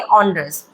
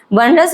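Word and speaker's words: onerous: इसका सही प्रोनाउंसिएशन हम पढ़ेंगे ऑनरस। वनरस नहीं कहेंगे इसको, क्या कहेंगे? ऑनरस।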